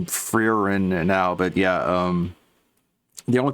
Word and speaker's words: Frieren: So today we're gonna take some time and talk about the Frieren anime, which is currently airing, and it's very popular.